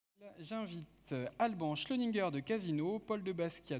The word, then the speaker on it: Schleuniger: Alban Schlöninger, je prononce bien votre nom?